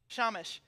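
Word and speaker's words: shamash: candles on the menorah is called the shama did I say it right Shama Shamish it's a tell me how to say it shamish OK the Yiddish what's OK cause I had heard the Hebrew was shama okay I'm gonna go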